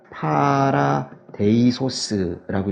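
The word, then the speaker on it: παράδεισος: 근데 이걸 갖다 헬라어로 바꾼 게 뭐냐면요, 파라데이소스라고 읽거든요. 히브리어로.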